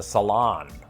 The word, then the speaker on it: salon: say the salon except they'd place the emphasis on the second syllable as in the salon cilantro it sounds like